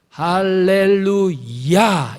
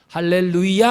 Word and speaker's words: 할렐루야: 이 아이의 있습니다 예 할렐루야 아야는 여호 아닙니까 맞죠 여호와를 찬양하라 야 예 악센트를 했습니다 할렐루야 할렐루야 이게 정확한 발음입니다 이게 시편의 는 많이